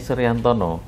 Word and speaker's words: Suryantono: Tetapi membacanya Suryantono. Yeah. Nah, kalau pakai O, yeah, itu dengan aksara Jawa pakai taling tarung namanya, yeah, itu akhirnya membacanya Suryantono. Itu. Jadi oleh orang tua saya dipakainya huruf A. Oh, supaya gitu, ketika dipakai berdasarkan ejaan aksara Jawa, yeah, itu membacanya Suryantono.